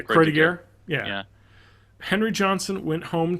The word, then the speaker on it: Croix de Guerre: Probably pronounced Croix de Guerre. Yeah, Croix de Guerre.